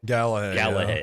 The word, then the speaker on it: Galahad: So he came across a post by a, please pronounce the name for me, Dexter. It's Ezra Galahad. Galahad.